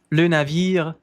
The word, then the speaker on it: navire: Le navire, levemente pronuncia-se esse R. Le navire, entre, entre, entre. Um sonzinho quase mudo desse R aqui.